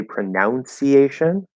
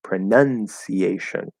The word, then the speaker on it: pronunciation: This also might be a typo, but many English learners say pronunciation. The verb is to pronounce. It's spelled OU, pronounce. But the verb, or the noun, not the verb, is pronunciation. spelled with just a U.